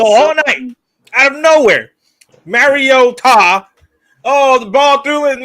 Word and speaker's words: Mariota: somebody told Chris Collinssworth the actual pronunciation of Mariota, which is Mariota.